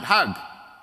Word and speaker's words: Hajj: Egyptian Jewish woman and in Egyptian Arabic the word Hajj has a different pronunciation the J becomes a G so the Egyptians pronounce it hug if you go to